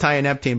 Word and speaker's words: tianeptine: It's pronounced tianeptine, but TIA for short.